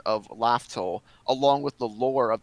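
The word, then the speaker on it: Laugh Tale: until yeah, we got the pronunciation for Laftel. I'm still calling it Raftel.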